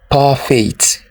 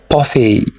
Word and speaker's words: parfait: Do you say parfait? It's a French word and it's not pronounced as parfait. It is parfait.